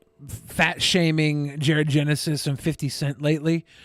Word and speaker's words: 50 Cent: his name because I heard so many people say 50 cents. 50 cents. I'm like, No, they did not. 50 cent.